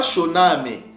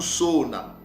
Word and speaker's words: Shona: ce mot dans la il disent choname ok choname c'est pas choname ok mais c'est cha ok cha ou Sona ok c'est ça la bon prononciation de Cees mot et shona c'était une